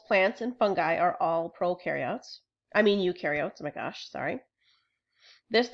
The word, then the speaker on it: eukaryotes: Eukaryotes rhymes with do because they have things that do things on the inside.